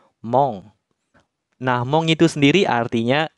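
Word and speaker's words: 門: Kemudian untuk ongyominya adalah mong. Cara pakai kanjinya gimana? Langsung saja. Nah, di sini saya kasih dua contoh saja ya, minasang. Jadi ketika kanji gerbang berdiri sendiri seperti ini, dia dibacanya bukan kunyomi ya, dibacanya ongyomi, yaitu mong.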